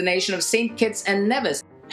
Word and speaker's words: Nevis: kitts and nevis it's actually pronounced Nevis not never never said dual island